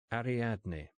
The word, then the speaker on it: Ariadne: You must call me Ariadne, if you can manage it." "Ariadne." Easy. Four pretty syllables.